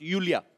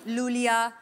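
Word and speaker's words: Iulia: Pronounce Yulia. Yulia. And Yeah. the spellings are I-U-L-I-A. So I Thank क्यों God मतलब? you know. I mean, why I? Thank God. Everyone is calling me Lulia, Lolia.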